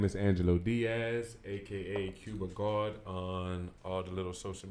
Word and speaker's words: cubagawd: It's spelled G-A-W-D. Can you say? Like. Yeah, keep it. Say Spell that one more time. G-A-W-D, C-U-B-A-G-A-W-D. That's cubagawd. Yeah, Cuba.